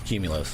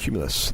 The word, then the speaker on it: Qmulos: OS comm right and it's pronounced cumulus cumulus we've been speaking with